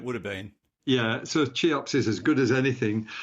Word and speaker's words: CHEOPS: think it might be normally pronounced chops okay it's named after a an Egyptian Monarch uh from ancient times but it is I grew up thinking that the um the pronunciation was chops but yeah it might